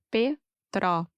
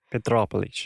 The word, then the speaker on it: Petrópolis: Petrópolis. Todos esses nomes, Petrópolis, Teresópolis, são bem difíceis para mim. Sim, Petrópolis. mas é só pensar em petróleo. E aí, Petrópolis.